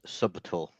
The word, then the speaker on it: subtle: needs to do better you pronounced that wrong it's it's subal it's dog [ __